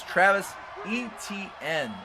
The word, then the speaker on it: Travis Etienne: position players, and I'm going to pronounce his name right. It is Travis Etienne. I think throughout this series I've called him 17 different names, but I believe I'm going to stick with this one.